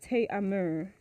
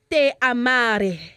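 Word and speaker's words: Te amaré: It's pronounced Te amare. There's no accent.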